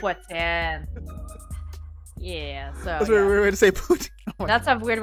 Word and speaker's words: poutine: It's what's in. Yeah, so That's a weird way to say poutine. Oh that's a weird way to say. No, it's not. No, that's how you say it in Quebec.